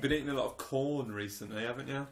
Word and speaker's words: Quorn: Yes, you do, because that's exactly how it's pronounced. It's Q-U, which is O-R-N. Corn.